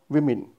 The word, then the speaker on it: women: It is spoken as women. Okay, not women. It's women. It's the pronunciation as given by Britisher in our in the English system, which we have to follow all the rules. So this is the woman, it's the women, not women, women.